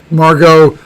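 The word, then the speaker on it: Margaux: property i think um margot i think because of the the you know it's two syllables it's the softest and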